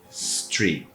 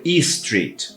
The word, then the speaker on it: street: Então, street, street. Imagine que o som ele sai do nada. Eu não vou falar e-street, é street.